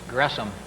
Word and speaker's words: Gresham: It's not an SH sound, but it's a syllable division there, so it's Gresham.